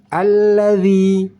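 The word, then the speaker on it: الذي: tebaladzi Nah di sini d bukan Z alladzi alladzi cara membaca huruf dza yaitu ujung lidah keluar sedikit bisa kita lihat di sini di gambar ini t dan cara membacanya ujung lidah keluar sedikit maka angin yang keluar sedikit tertahan angin tetap keluar cuman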